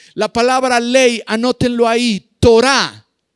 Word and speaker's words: Torá: palabra ley anótenlo ahí torá tal cual t o r a con acento en la a la torá la torá